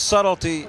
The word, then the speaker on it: subtlety: Because subtlety has a silent B in it, and we don't like the way that's spelled.